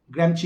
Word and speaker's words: Gramsci: ग्रैम्ची का स्पेलिंग है GRAMSCI, ग्रैम्ची बोलते हैं, ठीक है?